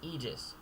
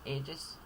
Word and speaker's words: aegis: take note and lastly aegis you might be tempted to say aegis as i was although it is aegis again once more over